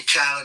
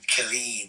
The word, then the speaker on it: Khaled: Some people call me Khalid. They don't know how to pronounce it.